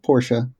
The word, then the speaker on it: Porsche: We just need a fancy car that has 2 syllables. You chose Lexus. I went with Porsche.